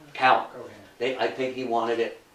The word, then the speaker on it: Cowen: And they pronounced so instead of being pronounced Cohen, it's Cowan.